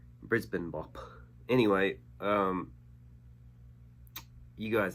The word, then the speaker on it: Brisbane: jimmy's called brisbane bop i say brisbane because that's how it's pronounced in america brisbane bop anyway um you